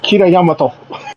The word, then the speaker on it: Kira Yamato: I think I'm pronouncing it right. It's Kira Yamato.